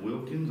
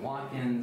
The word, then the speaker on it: Watkins: want to pronounce okay I had it pronounced Wilkins I've had pronounced wakens I've had it pronounced witkins I've had it pronounced every way you think I just figured you